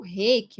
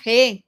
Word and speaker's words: reiki: japonês, né, no Nihongo, se a gente for falar a pronúncia correta, é reiki. Reiki. Então, não existe esse re. Para falar re, no japonês, teria que ser H-E, e é com R.